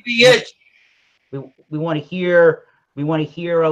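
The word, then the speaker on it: Zawiercie: Okay, well, when it was owned by Germany, it was Zabusch, but the Polish pronunciation is Zawiecz. All right, you got that, James? All right. Zawiecz.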